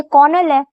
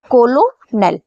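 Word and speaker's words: colonel: क्योंकि यह शब्द अगर हम पढ़ें, लेकिन यह है कर्नल।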